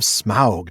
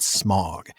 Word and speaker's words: Smaug: First off, Matt, kudos to you for helping your son get the correct pronunciation of Smaug, not Smog.